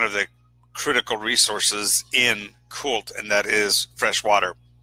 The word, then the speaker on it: Chult: So now this Bantu is the nation that I'm operating in is pronounced variously, either Chult or Kult. I prefer the concept of the Chthonian or Cthulian pronunciation of Kult.